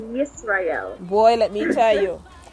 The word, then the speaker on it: Yisrael: know the Y, you add it to the I as in Israel, so Yisrael.